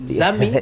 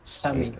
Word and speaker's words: Sami: Zami or Sami? Yeah. You sometimes get confused. Yeah. At first people will be like Zami, and I'm like, anyway, it's Uganda, but yeah, it's more like Sami. Sami.